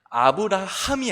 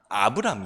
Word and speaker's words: 아브람: 크니 말하는 아브람 그런데 오늘은 발음의 조금 주의해 주셔야 될 것 같아요 왜냐면 아브라함이 아니라 아브람 이에요 여러분 물론 동일한 인물은 맞습니다